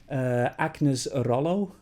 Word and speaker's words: Agnes Rolo: I love her name, Agnes Rolo, and of course you have to roll your R's with a name like that.